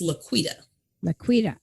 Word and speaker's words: La'Quita: i mispronounced your name it's laquita okay i wasn't sure how to pronounce the cue okay did great though